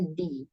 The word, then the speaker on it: the: Sampai jadi kalau the ini di ketemu dengan huruf vokal a i u e o depannya, maka dibacanya di. Arrive di airport.